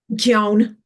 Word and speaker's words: McKeown: McKeown. It ends in own.